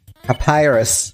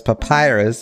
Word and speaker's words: Papyrus: that he's Fair you pronounce it like that because Papyrus it's a real word yeah we're going on